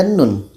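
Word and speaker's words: ن: Oke, seterusnya ada nun. Ejaannya seperti ini. Ada nun, wau, nun. Jadi kita baca panjangnya enam harakat.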